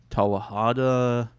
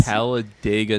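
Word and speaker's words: Talladega: myself I did watch a I think it's tahada what's that I said it wrong the Ricky Bobby movie The Ricky Bobby movie okay what is that called Taha Heights TGA nights Taladega nights you watch that for the first time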